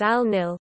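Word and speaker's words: النيل: the Nile Arabic al-noor written is al-nil pronounced as in nil is a major north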